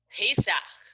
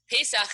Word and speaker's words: Pesach: The answer is Pesach. Pesach is how you say Passover in Hebrew.